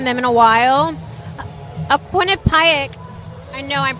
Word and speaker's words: Quinnipiac: A Quinnipiac, I know I'm pronouncing that right.